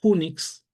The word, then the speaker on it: Unix: de entornos, el usar unix, así se escribe, pero se pronuncia como Unix, Unix como gateway, eh